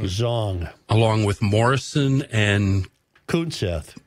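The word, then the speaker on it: Xiong: How do you pronounce X-I-O-N-G? Zong. Zong.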